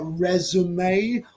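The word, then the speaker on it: résumé: But resume, although it's spelt the same, is the curriculum vitae, yeah.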